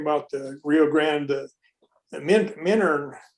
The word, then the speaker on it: Minturn: the Rio Grande, the Minturn. It's spelled Minturn, but it's called Minturn by the railroad people, and that's where the engine facility is, and I store equipment there.